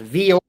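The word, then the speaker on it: Vuori: V u o r i pronounced vor.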